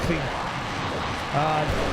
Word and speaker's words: Krieg: That's an interesting sound. Yeah, that us Westerners have a hard time saying Krieg. It's Krieg.